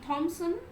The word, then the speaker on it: Thompson: See, Thompson, the pronunciation will be same, only the spelling is a bit different. Like Thompson, in second case, the P will not be uttered. So, both the pronunciation will be Thompson, who add a comic element to the stories.